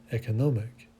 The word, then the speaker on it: economic: the second word terrific and the accentuation on the third syllable and also on the first syllable for economic and that's what we